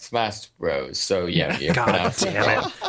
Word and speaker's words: Smash Bros: adult and also I've never played a player smash BRS also it's pronounced Smash Bros so yeah God damn it I'm so [